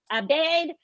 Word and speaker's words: Abed: Aaron Abed. I'm going to, if I said your last name wrong, I'm so sorry.